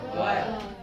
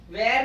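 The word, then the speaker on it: were: वॉज और वर. वेयर नहीं पढ़ते हैं. कितने लोग वेयर वेयर पढ़ते रहते हैं? वेयर की स्पेलिंग अलग होती है.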